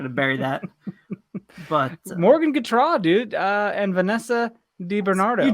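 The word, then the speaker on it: Gautrat: You've been pronouncing it wrong, dude. The phonetic spelling, they got it's Gatrot.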